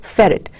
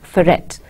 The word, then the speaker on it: ferret: This is called an accent mark and tells you to put a little more stress on the syllable that follows the accent mark than on the other syllables. You say ferret. It is not pronounced as ferret.